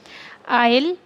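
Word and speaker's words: I'll: तो हम इसे ऐसे प्रोनाउंस करेंगे, आइल प्ले अ वीडियो गेम।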